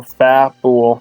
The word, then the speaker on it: Fabul: Fat, like fat, so Fabul.